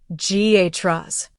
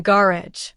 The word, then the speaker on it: garage: Say the word garage. In American English, it sounds like ghas. In British English, it's often gar.